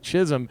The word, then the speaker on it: Chisholm: talking about Jism and how I was called that in high school because of my last name rhyming with it, Chisholm.